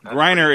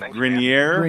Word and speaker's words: Greiner: the cigars he did he said it right correctly no Reiner instead of grineer and yeah what's the